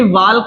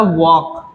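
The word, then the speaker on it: walk: इसी तरीके से वाल्क नहीं होता, ये होता है वॉक, वॉक, वॉक।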